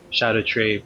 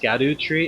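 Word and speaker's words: Scadutree: Um, and that was between two different videos where I had two different Shadow Tree fragment levels. Also, did you know that it's not pronounced Scadu Tree, it's Shadow Tree?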